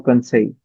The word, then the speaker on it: conseil: and we pronounce it Conseil, more conseil, consent Concise. L, conseil. not L. L silent. L is silent, conseil.